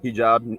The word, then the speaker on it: hijab: burqa or a hijab, is that how you pronounce it? Yeah, hijab, burqa.